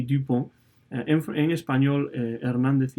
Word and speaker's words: Dupont: otro de los casos, pero se pronuncia en francés exactamente igual ese apellido, Dupont y Dupont.